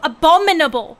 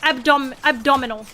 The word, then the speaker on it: abominable: And I said it abdominal, right? I said essentially abdominal snowman. And I still think about it because then the teacher stopped to laugh because I mispronounced abominable as abdominal.